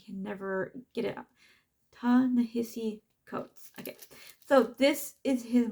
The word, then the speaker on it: Ta-Nehisi Coates: not gonna say because I've heard their name pronounced so many times, but I can never get it out. Ta-Nehisi Coates.